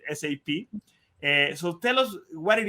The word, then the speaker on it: SAP: A lot of us know it as SAP, but the right pronunciation is SAP.